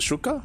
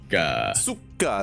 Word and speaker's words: суки: Is it Shuka? How do you say it? Suka.